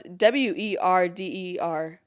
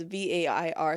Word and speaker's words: Werder: Well, it's Werder, but I looked at the pronunciation. It says Vair, so Werder Bremen, I believe.